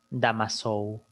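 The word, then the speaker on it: Damoiseau: ya pero se pronuncia se escribe pero se pronuncia damas show bueno siempre que tú veas en una placa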